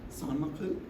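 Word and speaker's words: Saint-Malo: San Maklu? Oh man, that is difficult. But thank you. So you can hear the correct pronunciation.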